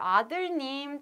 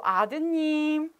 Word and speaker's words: 아드님: But change, something has changed because we deleted 리을. So it must be here. 리을, 리을, 아들님, 딸님. But it's difficult to pronounce. So we just omit 리을. So 아드님, 따님.